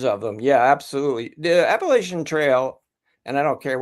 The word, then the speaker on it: Appalachian: because you you said Appalachian too and I've gotten in so much trouble from people from from Georgia. It's the Appalachian Trail and I get Oh, you say it like a northerner.